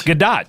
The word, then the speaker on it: Gadot: Is it Gadot? It's Gadot, yeah. And anytime I would say it, people would go, ha, thinking I was making a joke, and I'm like, no, that's how it's pronounced.